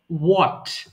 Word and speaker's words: what: একটু দেখবেন যেমন আমরা হোয়াট বলি এটার সঠিক উচ্চারণ হবে হোয়াট অর্থাৎ ডব্লিউ এইচ এর পরে ডব্লিউ এর পরে এইচ এর উচ্চারণটা প্রয়োজন নেই এটা বিদেশীরা করে না আমরা বলে থাকি হোয়াট